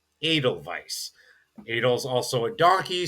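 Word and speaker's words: Edelweiss: Think of maybe the Austrian flower adal vise that is spelled with an e at the front. It's not eidal vice. It's adal vice.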